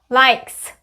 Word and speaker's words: likes: 그러면 likes. 얘는 모음이지만 S 앞에 모음이 있지만 소리 안 나는 이잖아요. 그렇기 때문에 그냥 likes라고 발음하시면 되고요.